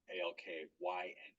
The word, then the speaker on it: alkyne: The triple bond one, we pronounce the Y as if it was an I with a hard E. So it's ine, so alkyne, and then the ENE is alkene.